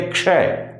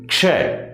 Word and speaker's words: क्ष: इसलिए क्षय इसे कहेंगे क्षय इसे कश मत पढ़ देना कश नहीं है ये क्या है ये क्ष इसलिए इसका उच्चारण आप बार-बार दोहराएंगे क से शुरू करेंगे क को हल्का लेंगे क्ष और श को पूरा बोलेंगे तो आपका उच्चारण होगा क्ष इसके बाद देखिए त्र